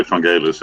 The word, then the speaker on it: Vangelis: You should say Vangelis, actually. Is that how you originally pronounce it? Yeah, that's the. I think that's the right Greek pronunciation.